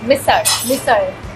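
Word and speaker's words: misal: without wow yes and you pronounce it as misser but it's spelled as missal right yeah but when you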